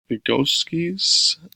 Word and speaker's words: Vygotsky: And then the last one is one that they get really in depth with, is the alternative model, Vygotsky's, I think that's how you say it, sociocultural theory, is how like teachers and students together collaboratively teach students assistively.